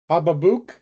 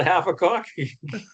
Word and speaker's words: Habakkuk: I just sent you the proper pronunciation of his name, CJ. Why? Because Hababook? Hababook Baldonado. Baldonado. So it's not half a cock? No.